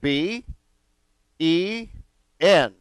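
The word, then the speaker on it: בן: this word from right to left we have B e N and so this Hebrew word is pronounced been okay so for example if you were to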